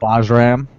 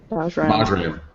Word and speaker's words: Bajram: So the story behind my name is that in the Albanian language, my name is spelled with a J. So other Byrams that you would meet in Albania only spell it Bajram. And so Bajram. Bajram.